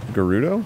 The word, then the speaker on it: Gerudo: Do you hear how we're pronouncing it correctly? Is it Gerudo? Mm-hmm. They say it all the time in the game.